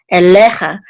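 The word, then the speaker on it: אֵלֶיךָ: kamatz, which says cha, elecha, and the accent's on the middle syllable because of this trope mark right here.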